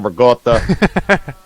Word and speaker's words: ricotta: you guys got it got to pronounce it like a sloppy Italian all right when I